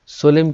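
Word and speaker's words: solemn: देखिए सोलेम, सोलेम क्या होता है, MN, यहाँ पे आपको स्पेलिंग में पूछा जाता है, ये भी इसमें लास्ट में MN लगता है। हम कई बार क्या कर देते हैं सोलेम ये स्पेलिंग दे के आते हैं राइट, लेकिन सोलेम N की साउंड भी पीछे आएगी, इसलिए इसको आप याद रखना।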